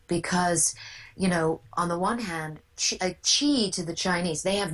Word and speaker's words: Qi: And would the Chinese word, I think sometimes it is spelled QI in your book, and some places do it as XI or something, but it's Qi.